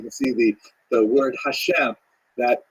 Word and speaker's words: Hashem: God and the word Hashem of course is pronounced with the letter H but there is no